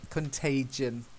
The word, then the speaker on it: contagion: So, and this one's a soft G, contagion.